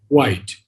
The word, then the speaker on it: white: The word white, the H was always sounded in Sri Aurobindo's time. Now most people just say white, or which instead of which, or where, and then they say where.